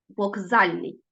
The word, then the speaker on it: вокзальний: Газда гелготіти гречний запам'ятайте у вимові звук к перед наступним дзвінким приголосним вимовляється як ґ Вокзальний ми пишемо звук к але чуємо як Ґ Вокзальний ось таке уподібнення